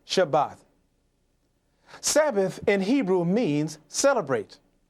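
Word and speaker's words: שבת: section on page 112, Sabbath in Hebrew is spelled from right to left, Shin Beit Thav, and it is pronounced Shabbat.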